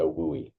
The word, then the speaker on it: WUI: Uh so we have this acronym and our first one here a WUI pronounced a WOOI wildland urban interface.